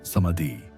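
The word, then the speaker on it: samadhi: They called this state samadi pronounced samadi which means absorption or unity consciousness.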